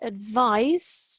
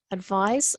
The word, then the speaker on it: advice: couple of you now we've got the word advice not like that advise and advice so we need to